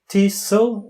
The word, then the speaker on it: TESOL: And then your TEFL and TESOL is the pronunciation?